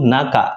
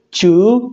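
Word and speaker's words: 中: Oke, kemudian untuk kunyominya itu ada satu, yaitu naka, menyatakan artian tengah. Kemudian untuk ongyominya itu ada dua, yaitu chu dan ju.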